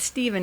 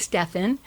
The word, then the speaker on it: Stephan: And it's not Stephen, it's Stephan.